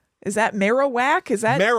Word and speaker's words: Marowak: Possibly some weird pronunciations. I'm sure. Oh, I can't wait. Marilac, is that Marowak? Is that Marowak?